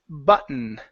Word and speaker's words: button: your last one is button okay so remember when you have a TT plus a vowel and an N that Dumpty cannot be pronounced like a flap T sound so we can't